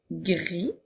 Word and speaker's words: gris: avec le mot gris nous avons le son du i la lettre S est une lettre muette elle est là pour faire le féminin qui fera grise mais lorsqu'il est au masculin le mot gris dans la lettre S est un être muette alors je peux utiliser